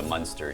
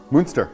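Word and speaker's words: Muenster: Like, you you know what you're doing cuz I said it was a monster cheese, but you know, you you pronounced it differently. Moonster.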